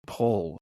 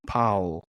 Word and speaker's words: Paul: Okay, Rick Martel is taking on John Paul, and Vince McMahon does not know how to pronounce the word Paul. He keeps calling him John Powell until about halfway through.